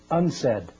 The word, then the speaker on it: UNCED: It is pronounced UNCED, and perhaps indicating the secret agenda of this meeting.